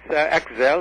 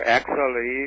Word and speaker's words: Aczel: It's Aczel or Aczel, either way. I prefer Aczel because it's spelled with a Z.